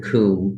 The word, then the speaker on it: cwm: reflecting sunlight everywhere called the Western coup which is spelled cwm because it's Welsh and the Welsh don't